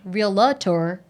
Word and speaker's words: realtor: love that you asked the question, and I thank you for not saying realtor. Oh, come on. No way. You mean you didn't want to add in the extra syllable?